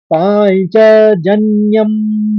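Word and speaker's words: पाञ्चजन्यम्: मैं यहां पर हिंदी के उच्चारण में बोलूंगा पांचजन्य ताकि समझ में आ जाए क्योंकि वो श्लोक के उच्चारण में पंच कहा जाता है। का उच्चारण आता है लेकिन आप आम की भाषा में पांचजन्यम ही कहते हैं उसको।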